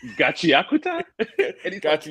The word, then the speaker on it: Gachiakuta: Chakia, it's Chakichua. I think that's what it's got the weirdest name and pronunciation.